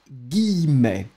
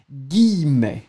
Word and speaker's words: guillemets: Je vais citer entre guillemets. Tricky word to pronounce this one. Guillemets.